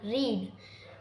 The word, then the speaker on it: read: Third verb is रीड। रीड की second form होती है रेड। हम इसे रीड लिखते हैं लेकिन प्रोनाउंस करते हैं रेड।